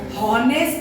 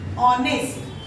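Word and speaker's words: honest: समय उच्चारण कैसे करेंगे, इसको हॉनेस्ट नहीं करेंगे, हॉनेस्ट, ह का उच्चारण नहीं करेंगे, ऑनेस्ट, ऑनेस्ट, किससे आया, ऑनेस्ट,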